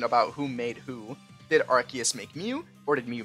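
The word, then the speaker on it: Arceus: of comments about it yes I'm saying it right it's archus not arus every time I bring up archus in a video little rats come out of their holes to tell me I'm wrong but guess what I'm not the Pokémon company decided to change it to archus because the original pronunciation of arus sounded like ARs and we can't have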